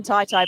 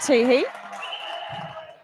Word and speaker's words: Tehe: I've always known Helen as Helen Tai Tai, but I I know that I'm pronouncing that wrong. So, I believe it's Helen T E Tehe back on court in goal shooter.